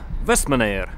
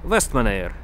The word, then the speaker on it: Vestmannaeyjar: А по поводу правильного произношения названия этого острова, спросил у девчонок на кассе магазина с мороженым, как правильно произнести. Они сказали, что остров называется Вестманайр. Так что я на острове Вестманайр.